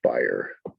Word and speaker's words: byre: Page 57, line 45, byre. That's a barn, but it's pronounced byre.